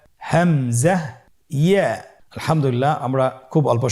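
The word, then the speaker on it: ء: হামজা হরফটি উচ্চারণ ক্ষেত্রে বারিক করে উচ্চারণ করতে হবে এবং এখানে টেনে পড়া যাবে না, দ্রুত পড়তে হবে। আপনারা আমার সাথে বলুন হামজা।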